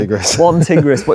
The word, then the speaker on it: Tigris: One tigress quilt. We keep saying it wrong, by the way. We norally say tigress, don't we? Tigress. One tigris, but it's one tigress.